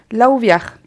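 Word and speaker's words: Lauviah: Et puis celui-là du cœur, enfin les sentiments, c'est Laouviar. Moi, donc L-A-U-V-I-A-H. Laouviar, d'accord.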